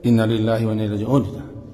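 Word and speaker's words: إنا لله وإنا إليه راجعون: Wa inna, dan sesungguhnya, membacanya sepanjangnya pendek. Panjang kan? Awak kadang-kadang baca pendek. Innalillahi wa inna ilaihi raji'un.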